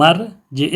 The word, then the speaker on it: ارجع: میں واقع ہوا ہے تو حمزہ تلفظ میں ساکت ہو جائے گی، تلفظ میں گر جائے گی، اور اس سے ما قبل جو ثم موجود ہے اور اس کے جو ما بعد را موجود ہے آپس میں متصل ہو جائیں گے تلفظ میں، ثم ارجع البصر کرتین۔ سما کی جو میم